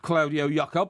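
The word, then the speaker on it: Claudio Yacob: Claudio Jacob, thank you very much indeed.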